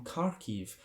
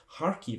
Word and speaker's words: Kharkiv: collaboration with silver spoon Meats who are from kharkiv harkive I should say get the pronunciation right in eastern Ukraine who do some